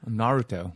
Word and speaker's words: Naruto: Nataro. Fucking Christ. I got where I the don't orange thing. understand what you're saying. How do you pronounce it, Joe? Naruto.